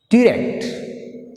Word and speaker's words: direct: Direct. Like direct. Direct. Direct. Direct. Rect is second syllable. So we put a stress mark on R. Here second syllable begin with R.